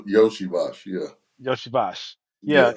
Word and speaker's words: Iosivas: yosa y yosibash yeah Yoshi bash yeah if you look at his name it look like uh iosivas or something like that but it's Yoshi bash so last season they